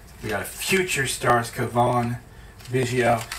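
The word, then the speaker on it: Cavan Biggio: We got a future stars, Kavon, Vigio. How many people other than me pronounced his name Calvin Vigio for like a year and then realized that it was very wrong?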